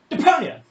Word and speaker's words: Deponia: Deponia!